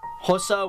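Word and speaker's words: Xhosa: indebted petty sotho venda hossa and that is hosa with a click that's how you pronounce an x swazi swana and of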